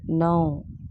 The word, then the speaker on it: know: KNOW, now. K is silent.